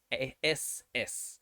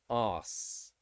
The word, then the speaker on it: ass: the first one is a s s so a s s would be us so for americans it would be ass which means your bottom